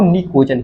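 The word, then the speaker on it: pnicogen: निकोजन क्या बोलते हैं निकोजन जैसे समझना कि निकोजन में क्या होता है ए सीओ जे एन मतलब इसमें प होता है वो साइलेंट होता है और इसको निकोजन कहते हैं अब जरा समझने की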